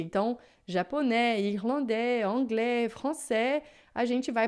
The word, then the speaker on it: anglais: Agora, se termina em E, assim, ó, japonês, irlandês, anglais, então esse A e S aqui em francês vai ter sempre som de E.